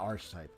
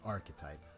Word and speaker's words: archetype: Not arch type. Archetype. I don't think I said arch type though. Unless I did then that was uh not the actual statement. It's No, it's actually pronounced archetype.